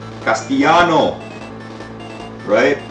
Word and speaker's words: Castellano: Castellano. Right? That's how they say it in Spain. Castellano. That idea got scrapped.